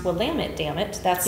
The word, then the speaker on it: Willamette: drinking from Willamette Valley Vineyards and it is pronounced Willamette damn it that's how they lower it really